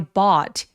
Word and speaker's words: bought: I bought 여기 gh는 묵음이죠. B은 어떤 단어의 과거 동사죠? By죠. 그래서 사다라는 단어의 과거 동사 bought였습니다. I bought 할 때 턱이 엄청 길어지면서 아래로 털어뜨리며 발음해 보세요.